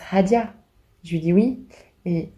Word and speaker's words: Hadia: me regarde il dit votre prénom ça se prononce Hadya je lui dis oui